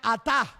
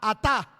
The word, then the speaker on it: atá: La palabra sobrevino viene de la palabra griega atá, A-T-A, atá, acento en la última A.